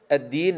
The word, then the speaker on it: الدين: الدين ننتبه إلى حرف الدال حتى لا يتحول إلى تاء، التين كما نسمع، مالك يوم الدين. شوف أنت كلمة الديك صح، أنتم تنطقون الديك صح، أن الديك له فائدة، وما أطيب الديك وما أطيب شربته، الديك. لكن عندما نأتي إلى الدين فالبعض يقول التين، مالك يوم الدين، لا قل الدين، الدين كما تقول الديك.